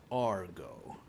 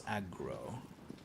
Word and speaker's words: Agro: time a lot of people thought it was Argo. I think it's been established that it's aggro and it is indeed aggro here in these